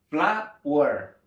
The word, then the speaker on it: flour: Harina para hornear, al pronunciarla, casi suena igual a cuando nosotros decimos flor en inglés. Es flower, flower, flower, flower.